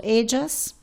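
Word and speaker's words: ellas: You can say edos or edas. Both pronunciation are correct.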